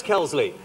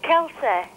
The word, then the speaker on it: Kelsey: Yes, Kelsley. It's Kelsey. Is it Kelsa? Kelsey.